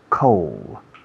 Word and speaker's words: coal: Coal. Suena frío, pero sin la D. Coal, pero si escribe coal.